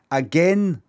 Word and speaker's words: again: way a i n again does not rhyme with pain again is pronounced ending back